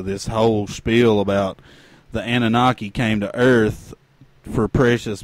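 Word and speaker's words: Anunnaki: that there race of gods known as the Anoni is that it is that right is that what it how you say it anunaki anunaki sorry that's what George El sucos told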